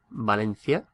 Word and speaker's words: Valencia: It will usually be a k sound, as in coche, but if it's an I or an E after the letter, then it's pronounced th.